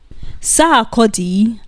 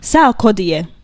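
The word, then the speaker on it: Sarkodie: Number five, Shatawal versus Sodi as Nigerians call him. Sodier as Ghanaians call him and as is actually the correct pronunciation of his name.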